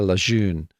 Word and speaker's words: Lejeune: It was signed by a friend of mine, Sarah Lejeune.'" Is that how you're pronouncing it? Yeah. It's French.